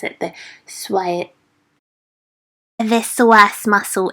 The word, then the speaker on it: psoas: sharp, so becomes this psoas. Oh my gosh, I struggle to pronounce it. The psoas muscle. It's got a silent P.